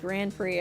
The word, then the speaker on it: Grand Prix: I see oh yeah Grand prick say pronounced Grand Prix I forgot about that